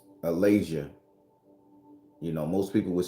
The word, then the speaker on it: Alazia: So the word we're going to talk about, and I've just pulled it up so I can say it right, is called Alazia.